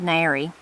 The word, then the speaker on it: nary: So the next one is very similar to that one I just read, nary. I say them both the same.